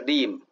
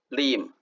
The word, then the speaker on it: 任: dim，责任的任读音是 lim lim，婶婶的婶读音是 jim